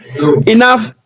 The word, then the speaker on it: enough: Enough, because there is an F sound here. This is silent, this is silent.